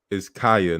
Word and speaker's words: Kiya: They're like, hey, her name is Kaya, not Kia.